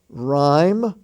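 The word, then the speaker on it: rhyme: the honor roll h-o-n-o-r honest h-o-n-e-s-t the h is silent there ghost g-h-o-s gastly g-h-a-s-t-l-y rime r-h-y-m-e that word rime r-h-y-m-e is also also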